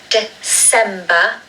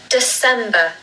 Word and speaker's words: December: There's a schwa at the beginning of the word again, like November. So it's December, December, December.